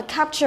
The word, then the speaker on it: capture: có thể nói là capture a photo là chụp ảnh, hoặc là capture cũng có thể bằng cả arrest có nghĩa là bắt giữ. Capture thì trọng âm của nó rơi vào âm thứ nhất đúng không?